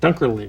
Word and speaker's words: Dunkerley: Dunkerley. Dunkerley, you got it.